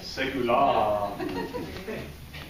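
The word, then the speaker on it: Segullah: And we have Melissa Young, who writes for, I always say it's Segula. Apparently I've been saying it wrong. Right. Segula.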